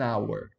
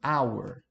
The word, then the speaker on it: hour: Então, ó, a palavra hour, você não pronuncia o H, né? An hour, não é pronunciada. Se não é pronunciada, o som aqui é de O, de A no caso, hour, hour.